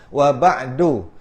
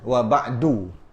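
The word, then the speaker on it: وبعد: Cara bacanya hidupkan dal, wa ba'du, bukan wa ba'd ataupun amma ba'd. Cuma boleh je. Cara baca ada dua lah. Satu amma ba'd, satu amma ba'du. Dia tak mati. Kalau kita nak waqaf kat situ tetap tak mati. Macam tu juga wa ba'du.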